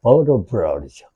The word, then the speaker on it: vertebrae: 그럼 척추에 vertebrae이 있고 얘는 또 발음이 어떻게 될 것 같아요? vertebrae이죠.